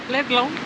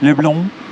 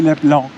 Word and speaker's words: Leblon: Leblon. Leblon. Okay. Because I pronounce it like in French. Leblon. It's really Leblon. Leblon. With an emphasis on N, but not really.